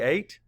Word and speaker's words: eight: word is eight again say eight map The Sounds a that whole EIG G says a next let's spell it